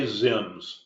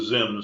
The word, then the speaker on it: ZIMS: x i Ms well X as in xylophone is pronounced as a z xylophone therefore I would say zims and that's how I came up with the name the zims strategy two times the